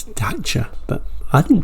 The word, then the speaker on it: Dacia: 1983 I used to call these daers the daier denim but apparently that is not the correct way to say it apparently it's data but I didn't pronounce it like that at